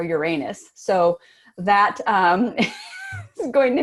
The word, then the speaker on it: Uranus: next is probably well I typically pronounce that you're honest but the next meeting is going to be you are Uranus so that is going